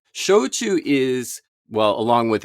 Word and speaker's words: shochu: Almost just think of pronouncing Spanish or maybe Italian. And if you do that, you're going to be pretty close. Now, Shochu is S-H-O-C-H-U.